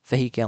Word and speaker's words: vehicle: ဒုတိယမှာ it နောက်ဆုံးမှာ girl V ရဲ့ girl ဖြစ်ပါတယ်ပထမဦးဆုံး syllables V မှာ Stress Peace ဆိုရပါတယ် Vehicle မဟုတ်ဘဲဖြစ်ပါတယ်နောက်ထပ်တစ်လုံးကတော့ sorry COF အေ B ဖြစ်ပါတယ်အဓိပ္ပါယ်ကတော့သက်သာရှိတာကိုခေါ်တာဖြစ်ပါတယ်ဒါပေမဲ့သူ့အသံကသူ့အသံကဖြစ်ပါတယ်ဆိုပြီးတော့အသံလေးတံမထွက်ပါဘူး comfortable ဆိုပြီးတော့အသံကသုံးတန်ပဲရှိပါတယ်ပထမဦးဆုံးစစ်လဖြစ်တဲ့